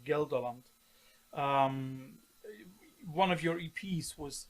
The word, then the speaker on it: Gelderland: in Holland, which is called I hope I pronounce it correctly, Gelderland.